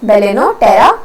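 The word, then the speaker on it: Balaenoptera: बाकी इसमें एग्जांपल आगे फेलिस कैट, बेलिन पटेरा, या पटेरा मैं तो कहती हूँ, इट इज बेलिनोटेरा, that is blue whale. जब भी 2 कंसोनेंट्स आते हैं पी साइलेंट हो जाएगा।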